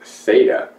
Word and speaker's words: SATA: And the serial ATA, or pronounced SATA, standard uses a serial data path and a SATA data cable, which can accommodate only a single SATA drive.